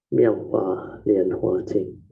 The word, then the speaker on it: 妙法蓮華經: In Mandarin is pronounced as 妙法蓮華經.